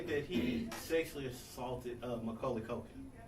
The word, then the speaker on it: Macaulay Culkin: I don't know now know for Macaulay cult Macaulay Culkin is a his name I said it right